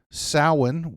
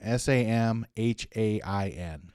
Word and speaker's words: Samhain: Samhain was once a time of fear and dread.